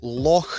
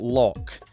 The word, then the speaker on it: loch: And finally, Loch, not Loch.